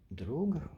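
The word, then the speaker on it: друг: I think people often referred to that meme as a peer, but it is in fact pronounced drug and means drug, means friend rather.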